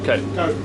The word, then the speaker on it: Cuyp: Is it Albert Cuyp or Cuyp? Cuyp.